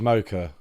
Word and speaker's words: Mokyr: More people seem to think Mocha. Mocha. I think it's Mocha.